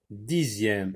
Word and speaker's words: dixième: Dixième, z, comme dans le mot deuxième, dixième.